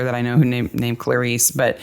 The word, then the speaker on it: Clarice: I know who named Clarice, but they pronounce it ClariS. So, we should say ClariS as weird as she creepy from the very beginning.